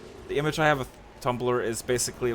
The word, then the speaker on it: Tumblr: Thumbr. What? Why did I pronounce it like that? Thumbr. The image I have of Tumblr is basically like young teenage girls writing fanfics.